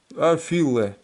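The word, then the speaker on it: אפֿילע: Афиле. Вот. Вот так записывается. Значит, значит, афиле, это афиле с ударениями, вот.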